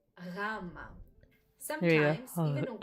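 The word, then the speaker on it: γάμμα: Greeks, try to connect it with the letter G, but it doesn't produce the sound G. So gamma can be described as a very soft G.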